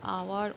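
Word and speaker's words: hour: SSC candidate এখানে ইয়ার আওয়ার honest এদের সবার পূর্বে প্রথম লেটার ছিল এইচ এইচ একটি আমরা জানি কনসোনেন্ট লেটার কিন্তু এখানে এইচ এর উচ্চারণ হয়নি শুরুতে আমরা এয়ার পেয়েছি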